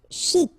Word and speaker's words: chic: Chic. Okay, you pronounce the final C and then CH together. Sh. Chic. De banlieue.